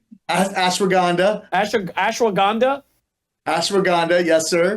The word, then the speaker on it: ashwagandha: sir it's it is so many great things ashanda did I say it right ashwagandha Ash ashwagandha ashwaganda yes sir okay magnesium I